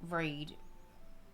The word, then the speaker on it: Reed: You can call me, or Reed. Pronounce that red like the color.